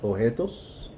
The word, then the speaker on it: objetos: The B is silent, objetos.